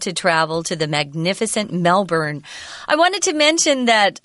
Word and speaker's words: Melbourne: So it's not surprising that people think it's pronounced Melbourne, but if you look it up or talk to any Australians, you'll discover that it's actually pronounced as if it's spelled B-U-R-N, Melbourne.